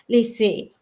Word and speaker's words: lycée: So we have very tightly closed in a word like the last syllable of lycée. It's all the way A, but it's a bit weaker in the first syllable.